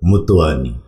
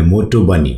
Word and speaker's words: Motwani: তার নাম হচ্ছে হানসিকা মতওয়ানি। হ্যাঁ, মতওয়ানি শব্দটা বন্ধুরা আমরা ইংলিশে যদি MOTWANI উচ্চারণ করি তাহলে হয় মোটোবানি।